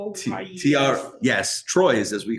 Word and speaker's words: Troyes: Yes, Troyes, as we call them. Yes. Troyes. Trois. How do you say it? Trois.